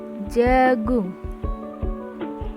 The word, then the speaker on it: djagung: Ciri yang ketiga, huruf DJ dibaca C. Contohnya, pada ejaan DJAGUNG dibaca jagung. Pada ejaan DJOER dibaca jujur.